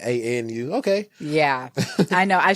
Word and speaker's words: ANU: Is it a new consultants or a new consultants? It's ANU. ANU.